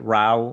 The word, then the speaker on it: Rao: So, um, you before I ask you to talk a little bit about the immortal king Ralph and am I pronouncing is it Ralph or Yeah, that's right.